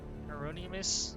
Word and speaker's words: Hieronymus: son great who are you I'm Reverend Hieronymus Hieronymus I've been saying it wrong I apologize dolorusso